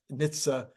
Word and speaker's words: NHTSA: of the uh words and letters in that Nitsa we'll call it Nitsa from now on I